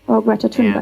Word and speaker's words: Greta Thunberg: Greta Thunberg.